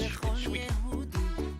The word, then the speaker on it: Shwiki: I think I've been pronouncing it wrong this whole time. It's Shwiki. Yaakov Shwiki.